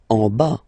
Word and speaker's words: en bas: En bas, final S not pronounced, en bas, en bas, okay?